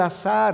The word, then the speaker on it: azar: No es obra del azar, hermanos. El azar, para pronunciarlo con Z, no tiene control de nuestras vidas.